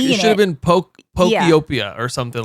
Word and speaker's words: Pokopia: So Minecraft, it's pronounced pocapia.